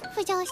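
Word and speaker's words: 腐女子: 腐った女子と書いて腐女子と読みます。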